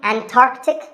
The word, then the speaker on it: Antarctic: The C in the middle is not silent. Similarly, Antarctic and Antarctica.